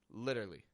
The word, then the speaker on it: literally: feeling about this tree Americans will take that word literally and shorten it to just a quick literally lit are you following me